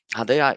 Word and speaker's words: HaDEA: you can see my name but for the pronunciation reasons my name is i am project advisor i work for hadea hadaya is a newly founded agency by the european